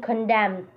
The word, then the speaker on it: condemned: For example, Most American English speakers do not pronounce D in handbag. Dili man siya handbag. Handbag. And N in condemned.